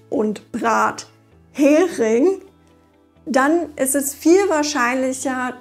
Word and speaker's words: Brathering: Wenn man die Wörter richtig trennt, mithin und Brathering, dann ist es viel wahrscheinlicher, dass man das Wort beim ersten Mal versteht.